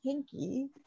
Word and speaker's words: Hinke: like pronouncing and i i learned today that i've been saying veronica's name wrong all this time it's hinky and i didn't even